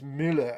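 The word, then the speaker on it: Müller: um and ander says in german muller is mueller as far as i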